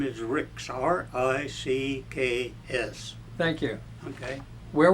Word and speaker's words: Ricks: you want me to spell that? C-H-A-R-L-E-S. My middle initial is M, and my last name is Ricks, R-I-C-K-S.